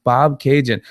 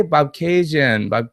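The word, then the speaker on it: Bobcaygeon: Shaitana, haha, it's pronounced Bob Cajun. Okay, Bob Cajun. It's pronounced Bob Cajun, Ontario.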